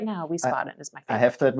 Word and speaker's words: Wiesbaden: Wiesbaden.